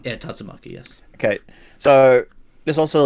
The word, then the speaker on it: Tatsumaki: The Tatsumaki, is that how you pronounce the name? Yeah, Tatsumaki.